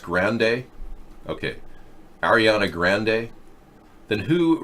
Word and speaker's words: Grande: It's pronounced Grande.